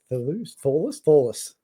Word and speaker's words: Thewlis: So Matt Thewlis, Thewlis. That's how you say it. It's Thewlis.